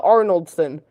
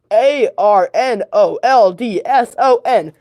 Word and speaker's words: Arnoldson: who goes as a Lincoln looker is Maya arnoldson I'm not good at pronouncing the name arnoldson a r n o l d s o n Maya arnoldson she gets put as a Lincoln